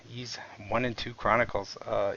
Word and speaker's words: Ys: what do we got East two one and one and two ease ease sorry I always mispronounce that uh ease one and two Chronicles